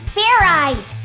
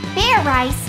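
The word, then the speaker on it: Fairize: rice idiot it's pronounced Fair eyes there's no ice in it what does this fair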